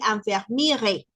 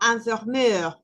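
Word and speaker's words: infirmier: Entonces, aquí no vamos a decir enfermirre, sino enfermer y en el otro sería enfermer. Entonces ahí no pronunciamos la r.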